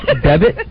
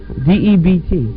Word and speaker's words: debt: Debit? Spell the word. D-E-B-T. All right, now spell it out. Sound it out. Debt. What is that word, D-E-B-T? Debt. Debt. Debit.